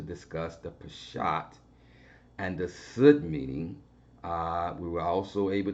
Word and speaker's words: Sud: And the fourth level, the final level, is called the Sud, and it's spelled S-U-D.